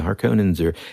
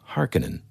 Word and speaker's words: Harkonnen: In the movie, this version, they pronounce it Harkonnen. Mm-hmm. I, as anybody listening, am not a linguist, and I frequently mispronounce things, but my entire life since I was 6 or 7 pronounced them Harkonnen. So I don't know which way is correct, but I'm sticking to Harkonnen because that's just what I call them.